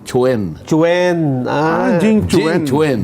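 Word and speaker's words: Quan: a Q u a n ano pero hindi kuhan ang pronunciation gan oo ang pronunciation Chwen Chwen ah Jing Chen Chen Jing Chen Chen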